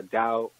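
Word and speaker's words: Tao: Actually, the original name of the art was called the Dao of Jeet Kune, T-A-O. T-A is pronounced Dao. Okay. T-A-O.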